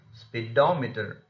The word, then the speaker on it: speedometer: received the stress next speedometer speedometer the syllable just immediately before meter is da therefore it has already received the stress so it becomes speedometer lastly in a phrasal